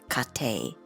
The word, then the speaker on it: 家庭: the first two characters they mean household they're pronounced kate but i've shown also the third one here